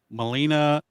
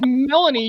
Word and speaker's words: Melanie: Molina Collins. CBS. I believe it's pronounced Melanie, you hick.